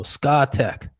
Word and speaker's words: Scatec: that one so if you know the proper pronunciation that's the one i'm going with so scatec sn power that's the only other language i